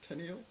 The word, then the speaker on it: Terneille: Well, we Bahamians. True. We don't pronounce R's. Okay. We add R's at the end of words that they don't belong on to sound proper, like Mona Lisa. But we don't pronounce R's that should be pronounced.